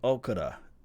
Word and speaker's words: Okudah: Jeff Okudah.